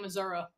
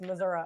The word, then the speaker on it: Missouri: are you just saying Missouri that's how you say it's Missouri or Missouri whichever you prefer uh that being said